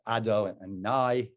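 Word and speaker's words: Adonai: we we don't even pronounce that name we pronounce the name as ado and nai as that is the name that we use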